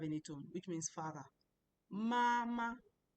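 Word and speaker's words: 妈妈: Mama. Mama is a first tone.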